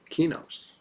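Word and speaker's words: Qeynos: It looks like it should be Kanos, right? I've heard Quanos, even though there's no U, but I mean, it's got a Q, so somebody's going to try to pronounce it like that, sure.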